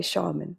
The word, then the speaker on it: Scharmyn: And as we were connecting before I pushed record, I was asking how to say her surname, which is spelled Scharmyn, and we say shaman, which just describes so much of who you are, Lindsey.